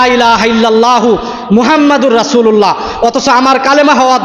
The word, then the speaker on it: মুহাম্মদ: ভাবে বলতে পারি না প্রত্যেকটা মুসলমানের নামের শুরুতে ব্যবহার করতে হয় মোহাম্মদ মোহাম্মদ উচ্চারণ করতে হয় আমরা উচ্চারণ করি কি নাম বাংলা ভাষায় উচ্চারণ করি আমার নাম কি মোহাম্মদ অমুক মোহাম্মদ এবং মোহাম্মদ মধ্যে পার্থক্য আমরা বুঝতেছি না নিজেকে নিজে সবসময়